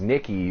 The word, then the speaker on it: Niquie: But this chick's name is Nikki, but it's spelled Niquie.